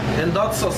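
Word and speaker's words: ἔνδοξος: La palabra glorioso, hermanos, viene del término griego, hermanos, endotsos, así se pronuncia, endotsos.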